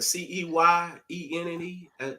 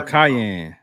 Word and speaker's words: Cayenne: the Scion, the Ceyenne. Oh, Cayenne.